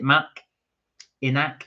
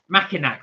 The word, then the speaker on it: Mackinac: I can't pronounce that. Mac-Ianic. Is it Mac-Inac? Massinac?